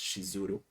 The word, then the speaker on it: Shizuru: And why did no one of them warn me that the name of the goddess is actually spelled and pronounced Shizuru?